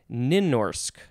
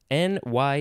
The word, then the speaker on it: Nynorsk: to the word that I do not know how to say, which I'm going to try to say as Nynorsk, N-Y-N-O-R-S-K, Nynorsk.